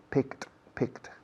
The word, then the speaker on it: picked: Picked. La ed después de la k de pick se pronuncia como una t pura.